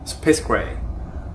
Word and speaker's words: 스페이스 그레이: 아니요, 스페이스 그레이.